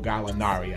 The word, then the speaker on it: Gallinari: They had a major blow dealt to them this week when their starting small forward, Danilo Gallinari, I did pronounce it correctly, tore his ACL.